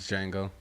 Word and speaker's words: Django: This is Django. No, it's the Django. Nah, yeah, you watched. We'll get With to the it. D is silent.